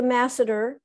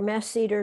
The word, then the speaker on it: masseter: temporalis works with the masseter or mass cedar different people pronounce it and when we clench